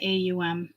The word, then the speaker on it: Aum: light so it's the aum sometimes it's pronounced om it's not any type